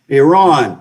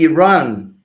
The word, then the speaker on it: Iran: with one Iran Iran you need to learn how to pronounce that word correctly let me say Iran yeah Iran it's not Iran it's not Iran Iran so sorry for that yeah sorry no no you're a journalist you love English so do I I'm trying to help you out you've helped me out tremendously thank you very much thank you very much I'm trying the proper way to pronounce Iran Iran and the other country